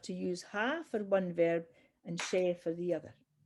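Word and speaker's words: bheil: Yeah, ver. Is that how you pronounce Evil.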